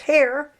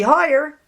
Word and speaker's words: Heyer: Turns out her name is pronounced Hare. It used to be Higher, but they changed it in the Second World War, she and her husband, because they didn't want to be mistaken for Germans.